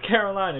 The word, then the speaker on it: Karolina: you're all just saying like the author himself says Carolina so it's Carolina yo um but yeah